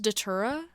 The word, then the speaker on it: Datura: Summer mixtape okay uh Boston Manor is it pronounced datura yeah that's that's an honorable mention that's my